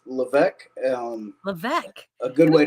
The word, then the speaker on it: Levesque: of everything but uh it's actually pronounced LC um LEC a good